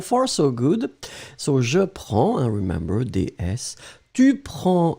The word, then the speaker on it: prends: So, je prends, and remember, DS. Tu prends des S, il, elle prend des. We pronounce them exactly the same way, but still keep in mind that we should definitely write them like that.